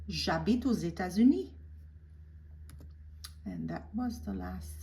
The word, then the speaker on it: États-Unis: But because it's followed by an adjective, united, uni, and it starts with a vowel, I'm going to pronounce that S as a Z. So États-Unis, les États-Unis, the United States of America.